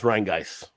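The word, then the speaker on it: Rhinegeist: It's Rheingeist.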